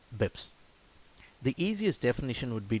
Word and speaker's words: bps: The first one is known as basis points or BPS, and it's pronounced BIPS.